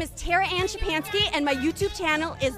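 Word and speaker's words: Szczepanski: break the silence my name is tara ann chapanski and my youtube channel is the polish american brotherhood my name is spelled t-a-r-a shipanski is s like sam z like zebra c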